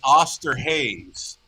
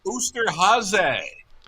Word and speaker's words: Osterhase: I read it in the program as an Oster Hayes. And I was contacted by folks that said, that is German for Easter Bunny. It's pronounced Oosterhase.